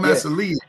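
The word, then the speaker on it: Massillon: I thought that's called Massel. Massel. Massel is how Yeah. Mass is how you pronounce it.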